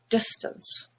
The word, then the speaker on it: distance: and face becomes surface stance is another black word and when it's not stressed as in distance this is silver stuns is just schwa there distance cord is orange but